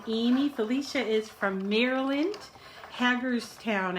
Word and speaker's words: Hagerstown: Felicia is from Maryland Hagerstown I think I think that's the way it's pronounced hackers town Maryland and Amy is from